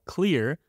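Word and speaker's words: Xlear: my favorite nasal spray is something called clear but it's with an X so it's spelled x-l-e-a-r this nasal spray has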